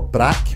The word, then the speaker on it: BRRAK: If you want to hear more, search for Brack on SoundCloud. That's spelled BRRAK.